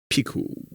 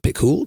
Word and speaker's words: Picoult: But it's Jody, spelled Picoult. Picoult. And I was thinking, Picoult? Picoult? But Johnny was like, I bet the T is not.